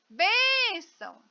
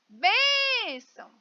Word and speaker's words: bênção: Então eu chamo bênção. Olha, eu demorei mais na bem, sílaba bem. Bênção. Vem cá, bênção, né? Então, bem é a sílaba mais forte, muito embora as duas sejam acentuadas.